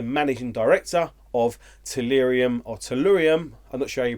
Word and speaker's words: Tellurium: is actually the managing director of solarium or tellurium and that's showing you pronounce it lyrium cue cables and we had